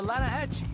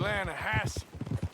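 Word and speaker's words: Lannahechee: you made an Alanis the Lana hatch it runs right near here yeah but it's pronounced Lana Hass why is everything in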